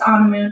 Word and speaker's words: Anamoon: It's Anamoon. It sounds like you're on a moon.